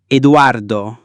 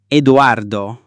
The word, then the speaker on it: Edoardo: E is pronounced like the E in bet or as in the exclamation, A.